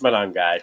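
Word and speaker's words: Monangai: I'm not going to pronounce his last name. It's It's I think it's Manong guy.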